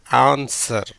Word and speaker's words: answer: அப்படி இருந்தும் இந்த டபிள்யூக்கு உச்சரிப்பு கிடையாது.